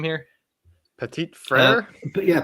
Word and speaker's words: Petit Frere: Petit Frere? But yeah, Petit Frere. Yeah, just like Petit it's Frere, okay.